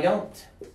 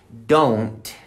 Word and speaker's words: don't: can say no I don't repeat no I don't now the pronunciation is don't because many people is which keys and don't know I don't don't say Don say no I don't okay no I don't